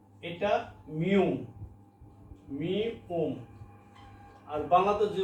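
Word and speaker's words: 미음: আগে আমি এটা দিলাম এটা হচ্ছে কোরিয়ান বর্ণ উচ্চারণ গিউক গিউক বাংলা হলো গটা হলো নিউন নিউন বাংলা হলো ন এটা মিউম মিউ ওম আর বাংলাতে যদি বলেন এটা হচ্ছে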